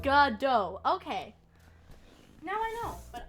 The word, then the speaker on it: Godot: beautiful beautiful piece also his name is pronounced gudo gadot oh godot okay i'll definitely like god dough okay now i know